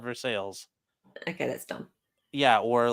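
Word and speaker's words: Versailles: people that live there it's called veres oh okay because I New Orleans it's like New Orleans it's like yes New Orleans would be yeah okay they call it nans they call it nans you know there ain't no Orleans there anymore it got wiped out okay so verai is obviously like spelled a French way yeah it's spelled exactly that way and they call it vers sales okay that's dumb yeah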